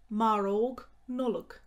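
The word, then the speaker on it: maróg Nollag: gingerbread men fair shinshair fair shinshair christmas pudding marog nollok and there are two ways to say this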